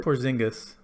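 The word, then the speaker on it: Porziņģis: spot for the porzingis oh-ho the porks yeah porzingis that's the correct way to pronounce it everyone's gonna love Porky's when they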